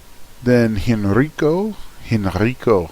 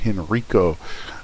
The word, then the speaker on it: Henrico: Then Henrico. I love to roll your R's, man. Henrico.